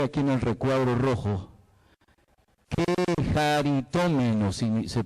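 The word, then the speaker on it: κεχαριτωμένη: Quejaritómeno se pronuncia.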